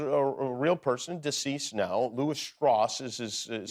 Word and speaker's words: Lewis Strauss: character is a a real person deceased now L stoss is is is how you pronounce his I pronounce it wrong earlier he